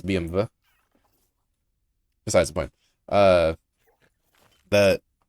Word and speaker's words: BMW: it's like German so it's technically supposed to be VV cuz there's no W in German. It's I mean like the letters there but you pronounce with a V. Like trivia the it's not technically BMW it's BMv.